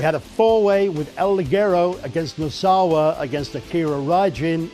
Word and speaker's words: Ligero: And talk about an international flavour, here comes the UK luchador, El Ligero! You need to roll your R's more. Is that what you're supposed to do? Let's do it again. Ligero.